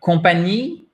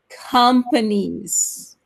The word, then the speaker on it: companies: The second one is compagnie. Almost. Almost. Companies. Companies. Gotta say the S at the end. Yeah, and where's the stress? Where's the stress? On the first syllable, right?